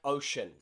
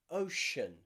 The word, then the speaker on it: ocean: to the sh sound sh in words like ocean okay that c is followed by two vowel letters you've got o c and then you've got e a shen ocean two vowel letters what